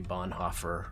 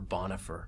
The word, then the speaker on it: Bonhoeffer: story about this because the germans of course will say bernie which when you say it as an american it just sounds corny but americans usually say bonhoeffer or bonafer but if you're a